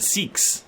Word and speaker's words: Seax: The bishop is the guy we think is the Seax. The Sikhs. It's the Sikhs.